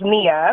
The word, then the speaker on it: Nia: Well, if you're going to say that, then you have to say my name right, which is Nia with an N, which is perfectly fine.